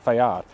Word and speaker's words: FAIR: side made in Italy Fair stands for Fabrica Army isidoro Rini and is technically pronounced fad it is a wonderful